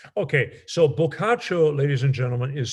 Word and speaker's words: Boccaccio: our our beat up many red copies of bulkacho okay so pokacho ladies and gentlemen is spelled b-o-c-c-a-c-c-i-o okay boccaccio and i'm sure that if you